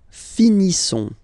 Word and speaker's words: finissons: Nous finissons. Okay? I-S-S-O-N-S. Ils sont. Nous finissons. Finissons. Okay, final S, not pronounced.